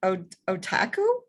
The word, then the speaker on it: Otakou: yeah so yeah cause he's like is it otaku yeah it is very good that's very good